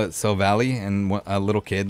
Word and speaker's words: Silvally: We got the Silvally. I remember before I ever heard Silvally's name, I used to call it Silvally, and a little kid like corrected me on it.